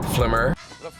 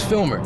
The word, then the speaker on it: Filmer: with it or YouTube they would like flimer limited officer flimer almost but it's filmer you know what I'm